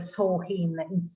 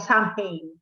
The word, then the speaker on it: Samhain: The pronunciation is a Samhain instead of Samhain.